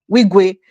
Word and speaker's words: Wigwe: Wigwe.